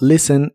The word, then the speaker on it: listen: La t de listen no se pronuncia y la u de la palabra music se pronuncia como you.